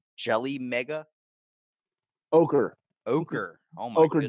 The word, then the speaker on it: ochre: I guess orache jelly mega ochre.